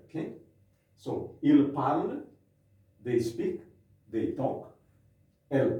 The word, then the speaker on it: parlent: The spelling is different, but we pronounce it the same as this one here, okay? So, ils parlent, they speak, they talk. Elles parlent, they speak or they talk, okay?